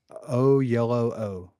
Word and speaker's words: Oyelowo: How do you pronunciation? Let's see. Oyelowo.